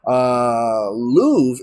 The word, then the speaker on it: Louvre: Louvre is Louvre is pronounced Louvre.